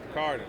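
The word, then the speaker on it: Picaridin: Picardin is how you say it? Yes. I would say Picardin.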